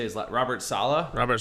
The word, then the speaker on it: Saleh: How do you say his Robert Saleh? Robert Saleh.